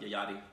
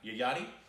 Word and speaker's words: Yayati: It's called, want to pronounce that? Yayati. Yayati.